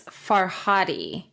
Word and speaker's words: Farhadi: I think I'm pronouncing I'm going to say far fi f a r Di faradi and Amanda I believe it's farhadi it is Oscar farhadi